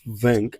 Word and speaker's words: vingt: So, we have vingt.